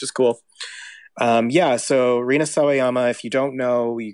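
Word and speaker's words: Rina Sawayama: here we go here we go lucid by Reena saama yes that's true did I pronounce that right you did you got it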